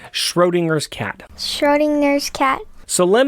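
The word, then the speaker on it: Schrödinger: says shroom oh wait can you help me pronounce this shredung gingers schrodinger's cat schrodinger's cat so let me explain schroeder's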